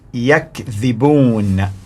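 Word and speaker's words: يَكْذِبُونَ: The pronunciation of the word is Yakzibuuna, Yakzibuuna, which means they lie.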